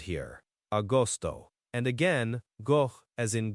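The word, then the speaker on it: agosto: Austoto. A G O S T O. Austoto. Austoto. Okay. Like father. The G is soft like almost between vowels sometimes.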